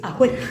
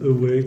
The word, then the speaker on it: Awek: Ah mais, parce que j'allais vous dire, c'est Awek. Ce qui est assez rare, Voilà. parce que souvent les gens disent Awek, ou vont chercher un truc en Angleterre ou je ne sais où.